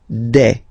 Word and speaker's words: des: Okay, and then the plural form des. All right, here S, you pronounce it like e. Okay, un, une, des.